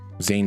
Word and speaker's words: Zayn: one the first guy he's zean Malik is that how you pronounce it well zann Zane yeah Zayn Malik Zay Malik and I